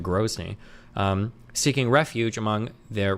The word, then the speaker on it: Grozny: I thought it was Groney, but he's pronouncing it Grony.